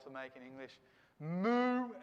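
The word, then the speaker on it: mu: to make in english moo and new all right m and r just like english k l m n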